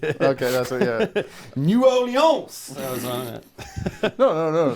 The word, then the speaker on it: New Orleans: New Orleans. That was on it. No. The locals pronounce it Nerlens.